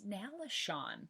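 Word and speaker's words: Nalesean: Like, S-E-A-N is Sean, right? Who agrees with me? I mean, it's Sean Chan. I'm not saying it's not, but I'm also telling you how it's pronounced in the audiobooks.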